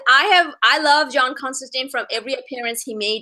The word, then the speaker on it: Constantine: with so many of them is John Constantine Constantine am I saying it right yes so okay